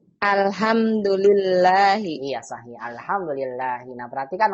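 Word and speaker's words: الحمد لله: Alhamdulillahi. Iya sahih. Alhamdulillahi. Nah perhatikan umahat semua ya. Kalau lafaz Allah nggak ada alifnya, berarti dibacanya lillah. Alhamdulillahi.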